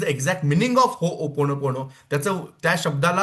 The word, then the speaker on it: Ho'oponopono: शब्द आहे तर तुम्हा सगळ्यांना माहिती असावं की हो ओपोन पोणो हा शब्द ओके सगळ्यांना म्हणता आलं पाहिजेत हो